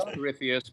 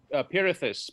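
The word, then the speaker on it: Pirithous: Oh, it is Pertheus. Pardon. No, Pirithus. Pirithus. Okay, Pirithus it is. I Yeah. know how to pronounce the name daughter, though.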